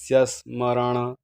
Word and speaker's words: स्मरण: जोड शब्द आलेला आहे यस्य स्मरण ण हा बाणाचा असल्यामुळे त्याचा उच्चारण ण असा आला पाहिजे यस स्मरण मात्रेण आता मला एक